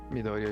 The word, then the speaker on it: Midoriya: Midoriya Izuku.